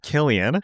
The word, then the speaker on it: Cillian: It's 100% Killian. It's not Cillian. It's Cillian Murphy. That would be Killian with a K.